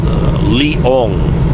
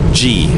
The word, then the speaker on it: Leong: And my village is pronounced Leong. To make it easy for you guys to remember, it's Liong. Easier way to pronounce is Lion G. It's all one word, Lion G, Lion, Leong.